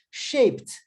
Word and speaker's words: shaped: Shaped. Shape. Shape. Shape. Ó, shape só tem uma sílaba. Shape. Eu não posso falar shape. Shape. Uma sílaba. Quando eu coloco o D, vira shaped.